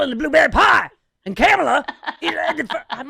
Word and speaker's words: Kamala: And Kamala, I'm like, what? It's Kamala. Let Uncle Al pronounce it the way he wants.